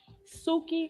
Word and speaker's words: Suki: What does Suki rhyme with? Soupy? Soupy? Yeah. Coochie. Oh. Suki Coochie. Say it with me. Suki Coochie. Suki Coochie. Suki rhymes with Coochie.